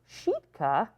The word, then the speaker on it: Sitka: Sitka, pronounced Sheetka, is the Tlingit name for what today is called Baranof Island, renamed by settler colonists.